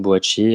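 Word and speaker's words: Boakye: Je l'ai prononcé Boaqué tout à l'heure, mais du coup comme Sylvain avait dit en début d'émission, boachier, il faut bien le prononcer. Bo boachier.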